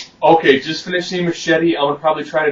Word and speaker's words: Machete: Not Machete, Machete. They say his name about a dozen times, so it's always Machete. Essentially, he is he's a